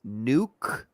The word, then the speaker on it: nuclear: this listen listen it's the real way to pronounce it is nuklear nuke n u c l e a r